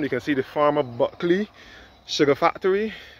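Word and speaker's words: Bulkeley: You can see the former Buckley Sugar Factory. Buckley is spelled B-U-L-K-E-L-E-Y.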